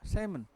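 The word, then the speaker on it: salmon: तो इसमें क्या भी एल साइलेंट है इन सब शब्दों में, और शाम में प और एल दोनों साइलेंट है।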